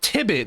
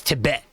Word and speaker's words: Tibet: name I I mean you're mispronouncing it I wait I'm mispronouncing it but it's it's it says tibit that's your name no my name is Tibet so you know I